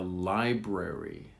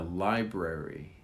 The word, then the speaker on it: library: And then finally, what's that big building between the bank and the library? What's that big building between the bank and the library? Listen to the word library. The B is very soft.